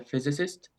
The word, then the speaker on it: physicist: Physics, and also my dad is a physicist, so cool. Physicist, nice pronunciation. Very easy to get that word wrong because you have physics, but physicist. Oh, actually, stress in the same place.